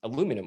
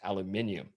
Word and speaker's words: aluminium: How come you didn't know it was made of aluminum, or I think you guys would pronounce it as aluminium, right? The correct way.